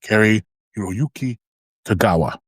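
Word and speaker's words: Cary-Hiroyuki Tagawa: Yeah, that's how you pronounce it. Carrie Hiroyuki Tagawa.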